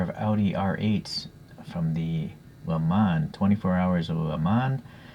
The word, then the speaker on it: Le Mans: audi r8s from the le mans 24 hours of amman although it's spelled le mans so i often say the months even though french people say go mon yeah it doesn't matter to me okay anyways so